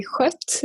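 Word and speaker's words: Skött: And the farm name is also, and my family name is also Skott, but it's with the Swedish O with the 2 dots. So it's actually Skott.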